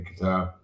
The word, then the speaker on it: Qatar: I know you heard me saying it correctly, Qatar, which didn't have a soccer stadium, but it got the World Cup.